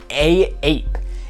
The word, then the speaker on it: AAPE: by a subsidiary of A Bathing Ape called AAPE. And yes, as far as I know, it is pronounced A-Ape, but I prefer to call it AAPE.